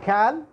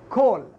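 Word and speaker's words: call: ينطق الـ A مضموم فلا تقول مثل ما قرأت هنا كال خطأ ولا تكسر الـ A هنا فتقول كيل أيضا خطأ فالنطق الصحيح لهذه الكلمة هي كول فمن الطبيعي أن يشعر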